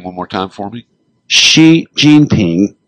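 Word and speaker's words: Xi Jinping: describing the uh president of China and it's pronounce his name one more time for me. Xi Jeanping. She Jean Ping.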